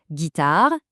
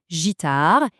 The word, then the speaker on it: guitare: Guitare, guide. Sans ce fameux U, on devrait prononcer gitar et j. Le Up pour avoir le bon son.